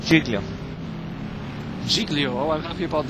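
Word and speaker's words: Ghiglio: to pron how to pronounce g h i g l i o I think it's jigo jigo oh I'm happy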